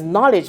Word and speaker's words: knowledge: The letter K is the silent one. So let me just put a cross on it because what we are hearing is knowledge.